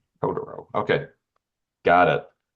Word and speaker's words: Totoro: Is it Toro? It's Todoro. To you, Larsson in your pronunciation. Todoro.